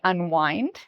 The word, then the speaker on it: unwind: Wine and wind have a similar pronunciation, so maybe that can help you remember how to pronounce this word.